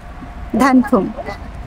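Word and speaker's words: 단풍: ধান ফুম উচ্চারণ কিরকম হবে, ওই যে আমাদের দেশে ধান আছে না, ধান চাল ধান, ওই ধানের সাথে একটা ফুম দেবেন, ফুম, ধান ফুম চারিদিকে ধান ফুম।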